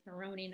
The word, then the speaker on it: Marrone: I mispronounced your last name. It's Marrone, not Marrone.